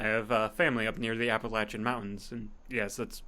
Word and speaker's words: Appalachian: I have family up near the Appalachian mountains, and yes that’s how you say it